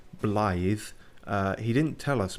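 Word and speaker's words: Blaidd: a half but we eventually learned how to pronounce his name blithe uh he didn't tell us much just that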